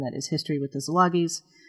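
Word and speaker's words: Szilagyis: I run, and that is history with the Zilagis. Zilagis is spelled S Z I L A G Y I S.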